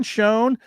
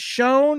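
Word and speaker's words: Schoen: the fu doesn't care does Shan and shanee sound the same who's he trying to fool cuz eats crusta and he thinks he's cool it's pronounced shown you are like he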